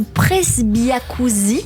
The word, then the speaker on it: presbyacousie: leurs oreilles de ce fameux vieillissement prématurée ou presbyacousie, si c'est bien prononcé, Absolument.